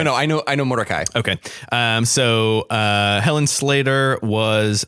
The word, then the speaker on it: Mordecai: needs to like canonically I need to change it from motor ki to Mordecai I thought I would